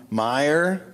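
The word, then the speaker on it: Meijer: place that they're from Meyer that's how you pronounce it yeah that's not how it's spelled Ivy had a lot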